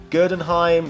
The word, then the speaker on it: Gerdenheim: As you have probably noticed, Gerdenheim rhymes with Frankenstein, so as a result is pretty much the same character who features the same backstory.